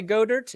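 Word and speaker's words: Goedert: here on GPS one Dallas godert pronounces his last name incorrectly so when I say go dirt it's because that's how I believe it should be said two in my power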